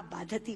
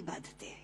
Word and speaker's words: बाधते: दे रहा है, क्योंकि बाधती शब्द का अशुद्ध उच्चारण आपने किया है, ये शब्द बाधते होना चाहिए।